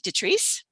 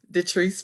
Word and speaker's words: Detrice: to you and please correct me if i'm pronouncing your name wrong detrice yes uh you correct you pronounced it correctly uh my name is the trees i am with